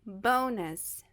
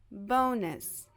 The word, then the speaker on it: bonus: Porque dessa forma, aqui, a primeira sílaba ela vai terminar com vogal, e aí ela vai estar uma sílaba aberta, e a gente vai pronunciar o som longo dessa vogal, que fala o próprio nome, é O, O. Então, é bonus, bonus.